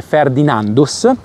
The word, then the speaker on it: Ferdinandus: Questo risale proprio a Ferdinando I, si legge anche Ferdinandus.